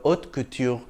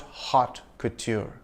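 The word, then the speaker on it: haute couture: High fashion in French the H is silent and the t is soft in French so it's not hot Couture also you don't pronounce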